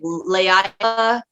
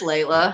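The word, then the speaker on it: Laila: in high school they didn't know how to pronounce my name so it was like leia leela one teaches up on the day he's taking attendance he was like lala i was like nah it's just layla like trust me i understand with kiandra trust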